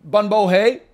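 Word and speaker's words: Bún bò Huế: Pretty good bun bo hay pronunciation. Hey, that's because I was going to say bun bo hui, but then I said the word wrong, but maybe wrong was right here.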